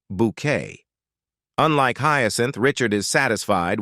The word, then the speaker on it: Bucket: ambitious Hyacinth Bucket who insists their surname is pronounced bouquet unlike hin Richard is